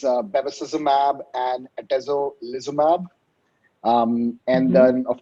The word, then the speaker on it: bevacizumab: I know it's a combination of therapies - it's bevacuzimab and atezolizumab or so. If you would correct my pronunciation and then we can start in. Yeah the names do keep getting more and more complicated as the years pass but yeah the the first combination drug is bevacizumab and atezolizumab and then